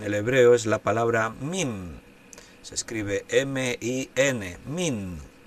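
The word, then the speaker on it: מין: La palabra género en el hebreo es la palabra min. Se escribe M-I-N, min.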